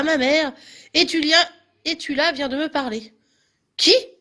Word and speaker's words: Estula: Sachez ceci, le chien s'appelait Étula. Prononcé donc Étula, hein, il s'appelle Étula le chien.